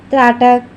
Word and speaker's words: त्राटक: त्राटक त्राटक तथा शत्रु त्र त्र का शब्द का यहां उच्चारण किया जा रहा है। लेकिन यहां पे क्या हो रहा है?